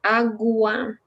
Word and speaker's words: agua: Remember, agua, we pronounce UA like separated.